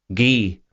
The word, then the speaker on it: Guy: By the way, Cotton said Guy says Wonder always preferred to use the more romantic French pronunciation in addressing him. Gee rhymes with key.